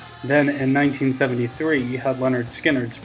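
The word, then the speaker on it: Lynyrd Skynyrd: an awesome band then in 1973 you had Leonard skinnard pronounced that had almost all of Leonard Skinner's biggest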